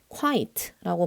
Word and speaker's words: quite: quite라고 발음을 하고 얘는 꽤, 매우 라는 뜻의 부사예요.